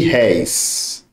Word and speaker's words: réis: Rei e réis. Rei, olha, fechado. É como se aqui tivesse um circunflexo. Réis é aberto.